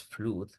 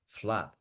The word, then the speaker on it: flood: Igual, inundación no es flood, es flood.